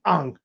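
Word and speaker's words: Aang: know no no no you're saying it wrong it's Ang an I want ANG right um but first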